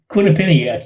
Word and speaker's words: Quinnipiac: I wrote a couple of days ago the latest, if I'm pronouncing the university right, Quinnipiac? Quinnipiac, yeah.